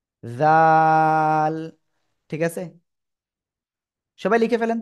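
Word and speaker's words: ذال: জিহ্বার আগা, উপরে দুই দাঁতের আগায় লাগাবেন, লাগিয়ে উচ্চারণ করতে হবে চিকুন আওয়াজে। জাল, এই যে জাল, জাল। তিন আলিফ টান হবে।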